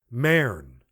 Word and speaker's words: Maren: She used the Elizabethan vowel, as one should pronounce bird, with no sound of U. Maren.